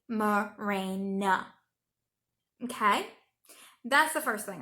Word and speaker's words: Mirena: my own body then at least pronounce it correctly Mirena okay that's the first